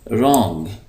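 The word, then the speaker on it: wrong: स्ट्रांग स्ट्रांग मजबूत रंग ये जो डब्लू है ये साइलेंट है इसको हम पढ़ेंगे रंग गलत लंग लंबा ब्यूटीफुल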